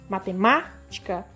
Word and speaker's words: matemática: pronuncio com mais força matemática então pela lógica aqui a sílaba tônica é má porque ela tá acentuada mas existem outras sílabas